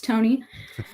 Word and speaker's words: Tonie: name is tony uh i spell it with the ie at the end it's not tawny it's tony um but uh basically